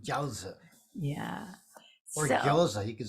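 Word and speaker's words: 饺子: So dumplings are pronounced jiaozi.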